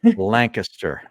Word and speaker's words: Lancaster: Say it right, Harry. Lancaster, not Lancaster. It's Lancaster. I definitely say Lancaster.